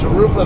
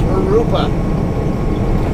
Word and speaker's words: Jurupa: But a couple of friends though, they call it Jurupa Valley, and I'm laughing every time I hear that because it's Jurupa. In Spanish, J is pronounced like an H, not a J.